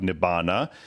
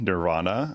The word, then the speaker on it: nibbana: And then you have nibbana in Buddhism, nirvana in Sanskrit. Nibbana is the Pali pronunciation.